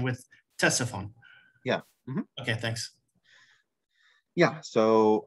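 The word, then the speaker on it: Ctesiphon: an S right uh the C is silent I don't know why there's a c in English it's Tessy fun oh okay it it's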